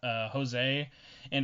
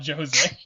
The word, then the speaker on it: Jose: maruka so far and Jose and also just because I've made fun of this